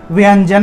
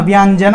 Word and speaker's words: ব্যঞ্জন: স ঠিক আছে সুপকরণ অন্য ব্যঞ্জন অন্য অন্য ব্যঞ্জন ব্যঞ্জন এখানে ব এর সাথে একটি জফ তাহলে ব্যঞ্জন ব্পরে ব এর পরে ইয় উচ্চারণটা আসবে তাহলে ব্যঞ্জন অন্য অন্য ব্যঞ্জন ব্যঞ্জন